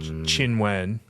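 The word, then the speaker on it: Qinwen: Zen Chien chinen uh qy is typically pronounced Chi right mhm Zen chinen she's a she's an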